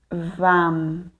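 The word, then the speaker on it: वं: em frente ao peito não esquecer de pronunciar ou a nos bidias mais aberto no sânscrito não existe o e somente o a então será lam vam Ram Yam ham certo então vamos começar Então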